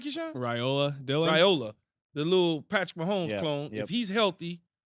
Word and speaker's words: Raiola: We're going to let if he's playing the Rioli kid – did I say his name right, Keyshawn? Raiola, the little Patrick Mahomes clone.